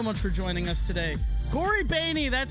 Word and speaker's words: Cory Boehne: Cory Boehne, that's how you say his name.